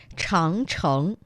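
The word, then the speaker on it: 长城: Changcheng.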